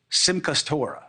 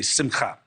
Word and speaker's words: simcha: trying to get better Sim customer I know that's not the right way to say it I know I'm supposed to say simcha but I can barely